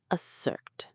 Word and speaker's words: assert: The stress is on the second part. Assert. It sounds like the end of the word dessert, but with an a at the front.